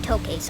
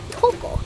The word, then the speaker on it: tuko: actually don't call them toes I'm from America so obviously I call them toes but I think they sound much more like Toco and that's actually what they call them here it's spelled t u